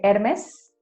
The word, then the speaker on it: Hermès: un temps réel seul on va toujours le prononcer jusqu'à la fin donc c'est hermès et parisse il y aura toujours en espagnol